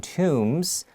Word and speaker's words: tomb: you look at the pictures on ancient egyptian tombs two things are clear so let's look at